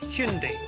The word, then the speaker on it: Hyundai: I oh it's Hyundai by the way search Hyundai it's the dawn of a new Hyundai anyways